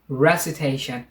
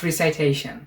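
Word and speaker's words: recitation: peas peas এরপরে রেসিটেশন রেসিটেশন নট রিসাইটেশন তারপরে develop develop তারপরে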